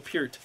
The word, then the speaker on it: Peart: That's actually how you say his name, Neil Peart.